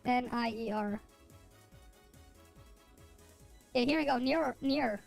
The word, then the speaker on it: Nier: Wait, how do I spell it? Wait, no, it's N-I-E-R. Yeah, here we go. Near, right here.